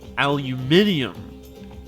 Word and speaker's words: aluminium: So yeah, I think aluminium, if you want to pronounce it properly, is in the Material furnace.